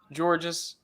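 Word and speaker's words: Georges: looking at basketball reference it is spelled george's it is pronounced george i apologize basketball community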